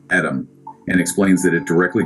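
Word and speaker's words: אדם: He notes it is pronounced Adam and explains that it directly translates to red earth or ruddy.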